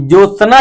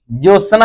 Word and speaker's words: ज्योत्सना: ज्योत्सना इस प्रकार का गलत है। इसका शुद्ध उच्चारण होगा ज्योत्सना यानी कि आधा त और आधा स रहता है।